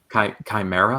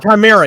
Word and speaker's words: Chimera: Just pronounce it the best way you can. Chimera. Chimera. Yeah, there you go. Like Mission Impossible 2. Chimera. Yeah. Gordon questions Professor Strange about Project Chimera, which later makes Strange send Theo Gallivan, now